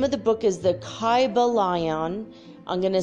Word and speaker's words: Kybalion: go the name of the book is the kaiba lion i'm going to spell that for you it's k-y-b-a-l-i-o-n the kaiba lion and one word and it is a study